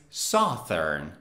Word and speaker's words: southern: southern no southern saturn the pronunciation of the adjective of the word south is not southern it's southern southern so you can say